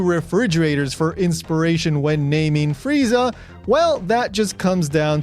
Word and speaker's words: Frieza: However, the Japanese pronunciation of the English word freezer is Frieza. Note, this word ends in a long ah vowel.